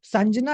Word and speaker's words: संजना: अब संजना ही से शब्द है जो सांझ का शब्द आता है ना, सांझ जिसे बोलते हैं, वही सब शब्द संजना से आता है। तो सांजना इज the correct pronunciation for the name.